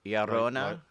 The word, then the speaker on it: Llorona: I wasn't sure if the R needed to be inflected, rolled, flipped. It's not a double R. Okay, so. But it's not pronounced the way an English R is. Yeah. We over-roticize our R's. Is there a little bit of a D to it? Llorona? La Llorona. Llorona. Okay, got it. Llorona.